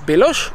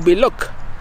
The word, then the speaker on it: Belloc: Donc est-ce qu'on prononce Beloch ou Belloc façon Gandalf? Eh ben manifestement, regarde un peu ça. Alors, une orthographe plus ancienne sans le H. Donc là, clairement, c'est Belloc.